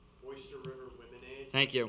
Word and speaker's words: Womenade: It's Oyster River Womenade. Thank you. But spelled like lemonade. Okay, Women, A-D-E. thank you.